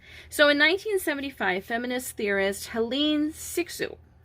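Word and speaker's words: Hélène Cixous: in 1975 feminist theorist helene sixu i believe is how you pronounce her name she wrote the laugh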